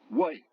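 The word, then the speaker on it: 外: UAI se prononce why. Par exemple, le mot qui veut dire dehors, why.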